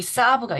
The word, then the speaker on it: Saab: 프레드릭 베크만 여기 사브가 있어요. 사브가 SAAB라는 스펠링을 쓰거든요. 사브 자동차 브랜드예요. 한국어 책에 사브라고 나오잖아요. 영어로 사브라고 하는데 되게음 독보적인 어 이미지를 가진 자동차 브랜드입니다.